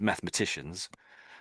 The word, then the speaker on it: mathematicians: So, probably mathematicians would miss out that e because they're sick of saying it, I would suggest. So, mathematicians would miss it out. So, I've just said mathematicians. So, I'm sort of missing out that e sound in the middle, which is a bit